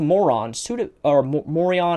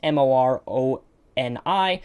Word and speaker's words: Moroni: This is when a random angel appeared to Morion, I don't know how to say his name correctly, it's Moroni, but this angel appeared and